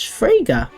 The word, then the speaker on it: Fraga: you came accompanied by Beatrice Fraga which rhymes with Sega she was the last